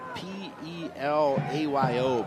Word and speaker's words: Pelayo: It is spelled P-E-L-A-Y-O, but pronounced Pelayo.